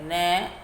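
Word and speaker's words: know: के ने ओवे, इसे नो बोलते हैं। के की साउंड साइलेंट रहती है। के साइलेंट रहता है बच्चों, इसे बोलेंगे नो।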